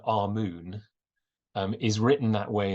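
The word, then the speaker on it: Amun: we we understand that Ammon or it's probably better our moon um is written that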